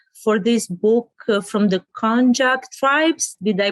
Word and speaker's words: Honjok: you got inspired for this book from the konjac tribes did i pronounce it right you did that's great because